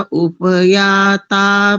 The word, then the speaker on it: उप: और सबसे अंतिम शब्द नहीं, उससे उसके बाद एक शब्द है उप, आप बोल रहे हैं उप, पा में हलन थोड़ी है, उप, उप, और अंतिम वाला, हाँ अंतिम वाला पिबध्यई।